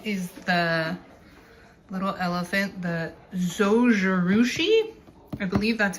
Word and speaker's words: Zojirushi: It is the little elephant, the Zojerouchi, I believe that's how you say it.